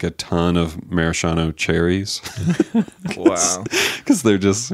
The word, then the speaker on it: maraschino: Maraschino? How do you say it? So this is, I don't know what that I read is. like a 7 page paper on the pronunciation of it because my mom always said like it was maraschino. Yeah, which sounds really wrong.